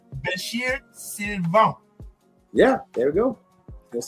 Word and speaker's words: Bechir Sylvain: Bechir Sylvain.